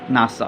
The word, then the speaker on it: NASA: এখানে উদাহরণের দিকে লক্ষ্য করো, নাসা is situated in দ্য ইউএসএ। এখানে দেখো যে N.A.S .A না লিখে আমরা কিন্তু ডটগুলো উঠিয়ে দিয়েছি এবং নাসা এটি কিন্তু NASA এভাবে পড়ছি না, পড়ছি কি নাসা।